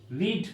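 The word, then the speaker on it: read: আবার ধরো রিড মানে পড়া, এটা কি হবে? একই থাকবে, মানে কি উচ্চারণটা একটু পরিবর্তিত হয়, রেড বলে আমরা, রিড রেড, কিন্তু আমরা বানানটা একই লিখব।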